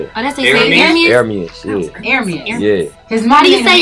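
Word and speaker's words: Ermias: It's Hermes, though. That's how you say it. Oh, that's how you say it. Hermes? Hermes, yeah.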